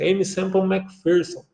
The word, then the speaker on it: Aimee Semple McPherson: Você talvez ouve diversas maneiras dessa pronúncia, né, mas nos Estados Unidos, onde desenvolveu a sua vida, a pronúncia é essa, Aimee Semple McPherson.